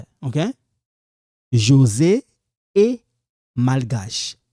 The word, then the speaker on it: malgache: José est malgache. Mal. You know, like when you say mal à l'aise, mal, this L, you pronounce it malgache. You don't say magache, no.